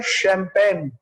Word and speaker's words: champagne: इसका प्रोनाउंसिएशन होता है शैंपेन, है ना। अब ये CH यहाँ पर क्या कर रहा है, ये CH तो यहाँ पे श बता रहा है, शैंपेन।